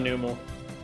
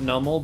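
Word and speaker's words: Numel: I know most people pronounce it Nummel, but that's stupid. There's no B in there. If it was Nummel, it would have to be either a B in there or two M's, so...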